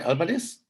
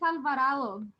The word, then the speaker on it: Alvarado: Did I spell it right? Alvarez? No, it's Alvarado.